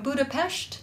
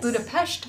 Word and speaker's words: Budapest: all the way from budapest that's how you say it budapest hungary and she will